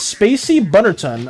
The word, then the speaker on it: Spacy Butterton: The actual way of pronouncing my username is Spacy Butterton.